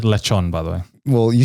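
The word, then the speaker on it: lechón: Now, lechon, on the other hand, that's not an everyday item. Yeah. It's pronounced lechon, by the way.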